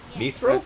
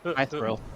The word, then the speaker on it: mithril: Mithril? That's how it's pronounced. I can't wait to see you all safe I've and heard it both sound. ways. You did so wonderfully today. My thrill.